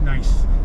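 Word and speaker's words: gneiss: oh okay oh okay g-n-e-i-s-s that's how it's spelled okay but it's pronounced nice okay so even a nice one okay here's Roosevelt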